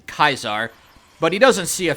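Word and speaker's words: Caesar: to his former Master by the Latin pronunciation kaisar but he doesn't see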